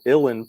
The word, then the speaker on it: uilleann: Well, there were the uilleann pipes. Is that how you pronounced it? Uilleann, kind of like Illinois.